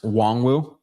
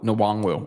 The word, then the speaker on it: Nwangwu: David, I think Kenne's last name is pronounced Nwangwu. Nwangwu? No, Nwangwu. Okay, fine. Nwangwu. That's it.